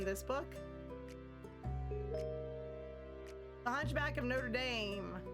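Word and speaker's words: Notre-Dame: The Hunchback of Notre Dame, or Notre Dame, actually, because it's French. So that's how it's pronounced.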